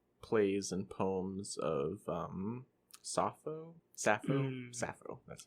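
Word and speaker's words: Sappho: of the uh plays and poems of um safo safo safo that's how you say her name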